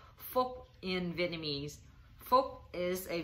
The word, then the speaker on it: Phuc: video i'm going to teach you how to pronounce folk in vietnamese folk is a vietnamese male name